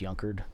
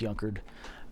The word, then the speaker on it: Junker: with a J it's it looks like junker but it's pronounced yunker junkyard without a y yeah that pretty much it's it's pronounced yunker um the Googling of